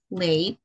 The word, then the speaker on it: played: I haven't played. That would be the pronunciation. That would be which one? D, D. D. Played. D. Mm-hmm. It would be D sound.